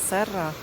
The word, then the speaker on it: Serra: Парк называется, пишется Серра с двумя «р». А это в сочетании дают звук «х». Вот такой вот, как будто бы у вас мокрота, извините за сравнение. Но вот так нужно говорить.